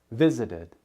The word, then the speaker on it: visited: Visited ends with an extra syllable and the D sound. Visited.